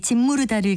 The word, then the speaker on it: 짓무르다: 짓무르다로 발음하기 때문에 지 밑에 니은 받침을 쓰는 것으로 알고 계시는 분들도 있을 텐데요. 지 밑에는 시옷 받침을 쓰는 것이 맞습니다. 이것은 첫 음절 짓 다음에 비음인 미음으로 시작하는 말이 와서 그 영향을 받아서 짓무르다로 발음하는 것이죠.